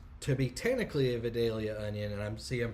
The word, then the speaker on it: Vidalia: there and so uh you got Vidal Vidalia is how they're saying it and here it's Vidalia and there who knows